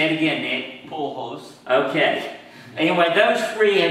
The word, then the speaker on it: Pujols: Now, before Pablo, only Babe Ruth, Reggie Jackson, and Albert, and I'm sure I'll mispronounce the name, Pujols. Say it again, Nick. Pujols.